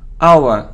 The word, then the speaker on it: hour: we don't pronounce h it's like hour not how hour okay so surprised report